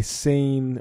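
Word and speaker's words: seine: happens with fish and they sane or sane it's spelled like the French river sei and yes the the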